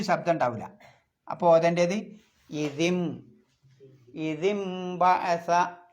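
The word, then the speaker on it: إِذِ انبَعَثَ: പിന്നെ നൂനിൻ്റെ മുകളിൽ ഒരു മീമ് കാണാം, അത് ആ നൂനിൻ്റെ ശബ്ദത്തെ മീമാക്കി മറിക്കണം.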